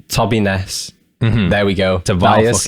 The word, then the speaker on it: TOBINES: So it's everything / TOBINES. And that's the fucking correct way to pronounce it. And as you say it, TOBINES, not turbines, dude.